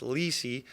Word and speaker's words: Lessei: nobody can pronounce it my last name is actually pronounced Lei but it's just a